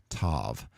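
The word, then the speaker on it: תו: to be pronounced differently without the dot it may have been a th but in modern Hebrew they say both with the T sound like in tame Tov t is in tame now that completes the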